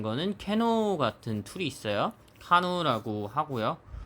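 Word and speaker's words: CANoe: 용어가 많이 넘어와서 아직도 캐노이라고 합니다. 캐노이라고. 일본식 발음이고 영문 발음으로는 카누.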